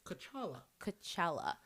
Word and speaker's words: T'Challa: It's T'Challa. T'Challa.